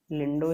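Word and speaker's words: Lindau: सबसे पहली चीज़ VHL, ये क्या है, वॉन हिप्पल लिंडो, इसको लिंडो ही प्रोनाउंस करेंगे तो ज़्यादा बेटर रहेगा।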